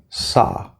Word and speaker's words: saw: word probably think ah but if I put a W here because this is a common spelling pattern a native English speaker is gonna see this and want to pronounce ah okay saw saw so do not round your lips you see a w